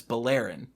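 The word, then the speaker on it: Beleren: at least I think it was in 12 pronounced Jace's last name is Bowl Aaron which is how I've said it ever since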